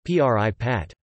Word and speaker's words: prípad: For example, p-o-h-y-b is pronounced pip, and prepad is pronounced p-r-i-pat.